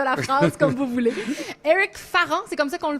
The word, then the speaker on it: Eric Farran: Eric Farran, c'est comme ça qu'on le prononce?